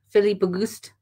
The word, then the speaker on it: Philippe Auguste: Auguste, Philippe Auguste. I'm pronouncing the S's. I should know better.